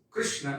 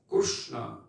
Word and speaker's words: Krishna: he heard how the local persons pronounced krishna as kushna and in his language